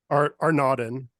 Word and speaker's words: Arnaudin: How to pronounce Arnaudin? Arnaudin.